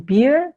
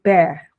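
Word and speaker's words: bear: Kemudian untuk kata ini binatang itu membacanya Bukan bir tapi Bere Bere Hai Terus yang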